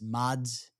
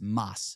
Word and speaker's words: Mads: His name is Mas. It's is short for Matias. He's He's Danish. M-ads. Mods. It's spelled Mads. Like Mads like a Mads, but it's Moss.